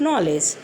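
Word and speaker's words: knowledge: आई ओ यू, इनमें से कोई आता है तो वहाँ पर के साइलेंट हो जाता है। For example night, no, knife, नॉलेज।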